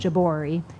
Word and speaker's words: Jabouri: and Jabouri, thank you.